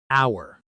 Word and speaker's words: hour: Hour. This word has a silent h. We say hour exactly like the word for belonging to us.